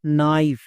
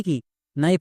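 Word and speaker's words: knife: নাইফ। নাইফ মানে কি? নাইফ মানে হচ্ছে চাকু। একে আমরা ভুল করেও কেনাইফ বা কোনাইফ এরকম উচ্চারণ করবো না। কারণ এখানে কেটা সাইলেন্ট।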